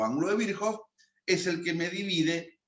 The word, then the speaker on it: Virchow: Virchow, para los que recién arrancan, Virchow es la pronunciación correcta.